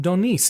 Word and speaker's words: d'Aunis: Actually, I'll just tell you, it's Pineau, and the d'Aunis is D'Aunis.